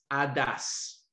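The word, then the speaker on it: ὁδός: donne voix ou chemin est bon ça se prononce hadas mais ça s'écrit h au des os en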